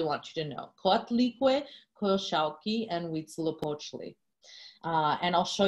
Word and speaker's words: Coyolxauhqui: The first one is Coyolxauhqui. Coyolxauhqui, lady bells her cheeks, or the lady with